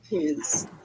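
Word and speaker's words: 'tis: That's the same as that nasty. It's that nasty I vowel that Nato had for the bid and did.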